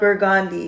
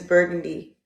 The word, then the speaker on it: burgundy: It is not burgandy, it is burden d.